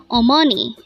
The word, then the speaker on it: 어머니: Omani or money again our virtue today is Omani it is pronounced as a three-syllable word the first little boys